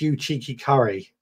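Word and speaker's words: Uchiki Kuri: Digra says, it's pronounced you cheeky curry.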